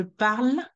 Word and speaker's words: parle: in the present tense when the verb ends with the E the E is silent you shouldn't pronounce it what is pronouncing said